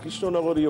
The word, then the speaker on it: কৃষ্ণনগর: বলে না যেটা ভদ্রতাটা কৃষ্ণনগরীয় ভদ্রতা হলো হ্যাঁ কৃষ্ণনগরের লোক নাকি খুবই সংস্কৃতিমনস্ক এবং তারা শুদ্ধ উচ্চারণ করতে চান অথচ কেশনগর বলেন বটে কিন্তু কৃষ্ণনগর বলতেন তো ওরা যেহেতু কৃষ্ণনগর বলতেন কৃষ্ণনগর বলে কৃষ্ণনগর বলে হ্যাঁ কৃষ্ণনগরও